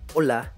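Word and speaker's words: hola: そして LA と書くので厳密にはオラと発音しますが、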